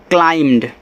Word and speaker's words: climbed: द हैट एंड CLIMBED, तो इसको पढ़ते हैं क्लाइम्ड। ऐसे क्लाइम्ड मत पढ़ना, क्लाइम्ड पढ़ना, ये आपका शुद्ध है, क्लाइम्ड। यहाँ पे लोग बा का भी उच्चारण कर देते हैं, तो बा का उच्चारण नहीं होता, यहाँ पे आपको केवल